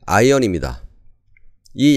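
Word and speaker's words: ion: 이입니다 이온은 우리말로 쉽게 표현한 한국식 발음이고 원래 발음은 아이언입니다이 양이온과 음이온을 나타내는 단어가 케타이 n 아이언이 음이온이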